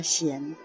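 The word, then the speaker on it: 單: 人的姓就念作善。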